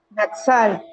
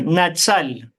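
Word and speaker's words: נצל: arrebatamiento dentro del hebreo Cómo se pronuncia natzal natzal así como usted lo está leyendo aquí natzal Sí y Qué traduce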